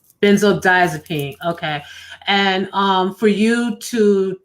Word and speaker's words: benzodiazepine: And especially when you say that there is no help for someone that's addicted to these how is it pronounced again? Benzodiazepine. Benzodiazepine.